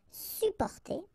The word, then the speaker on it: supporter: You can also add this SUP in front of porter, sup, supporter, supporter. We don't really pronounce the two or the double P here, supporter. And then it's possible to use this or to add this TRANS, trans, transporter, transporter, transporter.